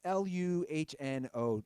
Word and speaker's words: Luhnow: Is the GM, how's his last name pronounced? Is it Jeff Luhnow? It's Luhnow.